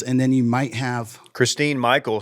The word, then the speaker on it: Christine: then you might have Christine Michael second rounder pronounced Christian yeah is it Christian Christine oh that's that's